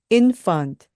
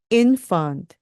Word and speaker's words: infant: 살짝 물어주는 F 발음입니다 infant 그리고 끝에 나오는 t 거의 발음을 안 하셔야 돼요가 아니고요 inf 이렇게 발음하시면 됩니다